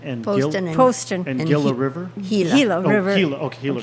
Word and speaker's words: Gila: Gila. Oh, River. Gila. Okay, Gila River. Oh. And Well, then it's spelled with a G, but there was Gotcha.